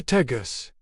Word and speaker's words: Tejas: as they heard it, Tejas. Over time, as language evolved and English influence grew, that J sound, pronounced like an H in Spanish, transformed.